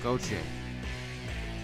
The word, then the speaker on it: Gauthier: It's Goche. I was listening the last time we played, and I'm trying to record it in my memory banks. It's Goche. Goche. It don't sound nothing like it's spelled.